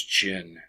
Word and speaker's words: Qin: characters by the way note his name his last name is chin XI Wong D the last syllable there D is the uh is the title um and so that's